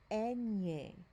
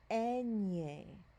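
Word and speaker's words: eñe: letter here is called enye enye so when we see this the letter n is gonna sound more like the ny in the english word canyon that's how you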